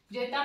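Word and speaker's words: zeta: जेता में मैंने तय भी लिख रखा है, ठीक है, तय जेता, लेकिन यहाँ पे तय साइलेंट हो गया, ठीक है, जेता।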